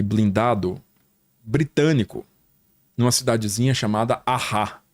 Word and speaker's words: Arras: Tinha acontecido alguns dias antes um contra-ataque blindado britânico numa cidadezinha chamada Arras. Escreve Arras, mas pronuncia igual a banda. Sei. Take on Me.